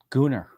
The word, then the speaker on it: Gunnar: Gunnar. I pronounced it the appropriate Icelandic way for all of you guys who are making faces when I said the name.